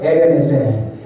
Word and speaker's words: 에벤에셀: 에베네셀.